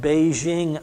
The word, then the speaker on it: Beijing: For the most part today, it is called Beijing opera because Beijing is much closer to the Chinese pronunciation of their capital. Peking is what we called it. Beijing is closer to what they called it.